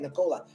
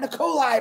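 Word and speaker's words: Nikola Tesla: i want to tell you a little story about uh nicola tesla and that's how you say his name nicola not nicolai marty nicola tesla which is another amazing man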